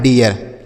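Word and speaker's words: dare: अब ए के बाद आर इ है तो ए का उच्चारण। तो ये हो गया डे। आर ई से र लिखा है डेयर।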